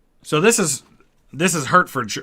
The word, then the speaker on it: Hertford: this is this is hertford hartfordshire hartford is how you say it hartford hertford hartford sure